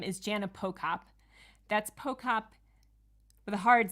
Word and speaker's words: Pochop: That's Pochop with a hard C, even though it's spelled CH.